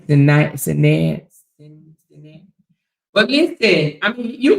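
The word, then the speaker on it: Sinéad: Sinead.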